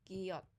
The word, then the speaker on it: ghiotta: So as I mentioned, it's a hard G, so ghiotta.